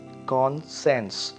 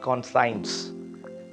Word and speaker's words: conscience: next one is c-o-n-s-c-i-e-n-c-e so that is consensus not consigns though the word s-c-i-e-n-c is